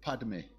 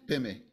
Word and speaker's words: Padme: it properly they say they can't say Padme they say pemi they can't even say